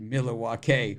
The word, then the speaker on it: Milwaukee: Alex Cooper yes Pete it's actually pronounced milwake which is Al gin for the good land my wife's give